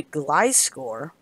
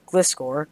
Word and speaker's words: Gliscor: but he switches into glyce score or gliscor depending on how you pronounce it and it does nothing